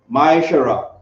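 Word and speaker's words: מעשר: maracai 3 to 10 means tenth in hebrew and is pronounced myshara 10 of every penny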